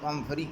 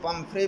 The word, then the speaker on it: Pumphrey: थी पम्फरी के लिए, इसको पम्फ्रे भी कहते हैं और पम्फरी भी कहते हैं. Both pronunciation of this word, both pronunciations of this word are correct. Pumphrey and Pumphrey, both are correct.